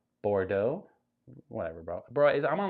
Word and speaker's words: Bordeaux: It's pronounced Bordeaux.